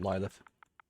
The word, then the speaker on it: Lilith: I know it's spelt Lilith, but she pronounces it Lilith.